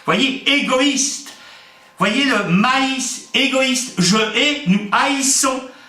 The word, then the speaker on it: maïs: Par exemple, mais, M-A-I-S, mais maïs. Comment entendre maïs? Eh bien, pour ce faire, on met 2 points sur la deuxième lettre. Voyez, égoïste. Voyez le maïs, égoïste, je hais, nous haïssons.